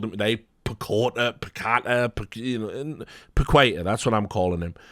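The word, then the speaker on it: Paquetá: But this stuff with Paqueta or someone called him today, Paqueta, that's what I'm calling him. It rhymes with equator, that's what I was always told.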